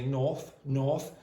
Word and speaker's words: north: I want you, again, I know some English speakers will do what Luis did and they'll say north. They're from London and that area. Australians don't pronounce the R's well, but I want you to make it easier for most people. Say north. Nor.